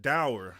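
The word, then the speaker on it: dour: dower. I said like hour, did I not?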